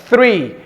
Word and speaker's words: three: pronúncia é TRE TRE o Number 3 o número três é three perceba que tem o th e eu quero ressaltar o th Por que o th